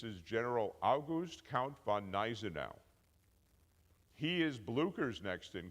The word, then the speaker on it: Gneisenau: Now, can anybody pronounce this guy's name? Gneisenau like the G isn't even there. This is General August Count von Gneisenau.